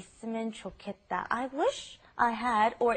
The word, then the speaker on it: 좋겠다: It's pronounced differently than how it's spelled. It's the pronunciation is 좋겠다, 좋겠다.